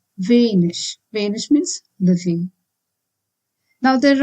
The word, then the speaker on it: wenig: If ig is at the end of any word, it has to be pronounced as ish, like in wenig.